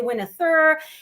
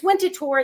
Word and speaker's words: Winterthur: We call it Winterthur, right? But it's spelled Winter, winter like the season, and then THUR. So sometimes people say Winterthur. It's Winterthur. It's named after a city in Switzerland.